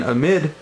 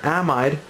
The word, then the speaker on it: amide: When I draw the product, which will be an amide or an amide, depending on the way you want to pronounce it, this H here is not going to be there.